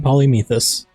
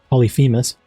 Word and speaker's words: Polyphemus: I stay pulling Polymethus. Think that's how you say it. Polyphemus.